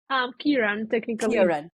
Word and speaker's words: Ciarán: Is that how you say it? Ciarán? Ciarán, technically. Ciarán.